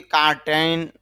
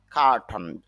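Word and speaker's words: curtain: কার্টন, যদিও অনেকে কার্টেন বলে, তবে IPA-তে খেয়াল করলে দেখা যায় ক আর উচ্চারণ হচ্ছে খা ট ন, টন। খা টন। আবার এটা যদি আমরা ইংরেজিতে উচ্চারণ করি, ইংরেজি লেটার দিয়ে, তখন উচ্চারণটা হবে, বানানটা হবে CUR, খা TAIN, এভাবে হবে কার্টন। কার্টেন না, কার্টন।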